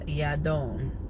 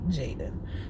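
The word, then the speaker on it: Jadon: It is the Hebrew name, and in Hebrew, it is pronounced Yadon. So I am spelling it without the apostrophe, so J-A-D-O-N, and I am calling him Jaden. If he wants to call himself Yadon, I'm fine with that. If somebody else wants to nickname him Yadon, I'm fine with that too, but I am pronouncing his name officially Jaden.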